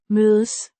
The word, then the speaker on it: mødes: Mødes. Dash. Mø. Rhymes with Show. but with a softer O. sound, and Des. sounds like days but with a softer d and a slightly shorter a.